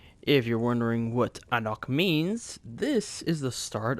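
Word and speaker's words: Ahnok: Today's word of the day is Anok, meaning hello. It is spelt A-H-N-O-K, which I'm sure you've already seen on the screen.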